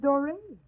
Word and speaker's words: Dory: You make it a point to call me Dora. My name is Dory.